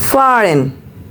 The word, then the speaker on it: fahren: If we have any vowel followed with a h, we will pronounce it far bit longer. For example, fahren, meaning is to drive.